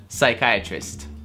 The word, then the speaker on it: psychiatrist: Буква P не произносится в слове psychiatrist.